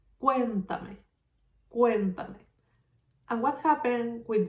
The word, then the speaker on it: cuéntame: Then where is the strongest sound? Cuéntame, cuéntame. If I have the stress in the third syllable, this word is called esdrújula.